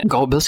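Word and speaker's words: Goebbels: style gles ho yan kung hindi ako nagkakam gobels yata ang pronunciation niyan but anyway ang quote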